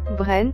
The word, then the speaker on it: Brand: son nom de famille brand se prononcent brent en hébreu un arbre coupé sur